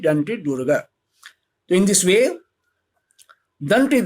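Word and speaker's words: Dantidurga: In English, you have to pronunciate it Danti Durga.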